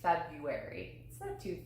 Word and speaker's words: February: yes okay um February February and I say February - that's not too far No February is